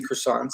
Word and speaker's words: croissant: go order like 3 croissants and some coffee. Yeah, definitely. How you say it? I would do croissant. I don't know. Croissant. Croissant. It's like the T doesn't exist.